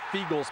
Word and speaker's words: Feagles: he blocked a Jeff feagle's Punt and returned it for a touchdown I was there that day Jeff used to putt for Philly and feagles as you may know rhymes with eagles and that should tell